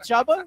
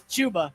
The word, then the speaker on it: Chuba: Isn't it Chubba? No, it's Chuba.